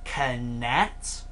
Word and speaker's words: Kinect: I know it sounds a bit awkward because it's how it's spelt, and it's actually pronounced and saying Kinect.